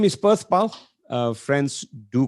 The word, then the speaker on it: Perthpal: spelled perth pal p-e-r-t-h-p-a-l well supposed to be pronounced as pal which means world paul means care so i'm